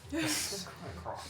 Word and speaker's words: Delacroix: No, it's Delacroix. LaCroix, like the drink.